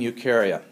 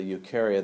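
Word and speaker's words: Eukarya: domain is the domain ukaria these guys are the ukar outs and u means true the letters EU together pronounced u means true so these guys have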